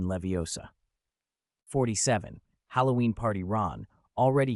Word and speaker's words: Leviosa: It's wingardium leviosa. You draw out the gar and emphasize the O in Leviosa.